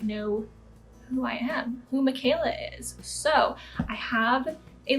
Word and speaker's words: Michaela: It's spelt like Michael with an A at the end. My whole life through school, I was always called Michaela, Michella.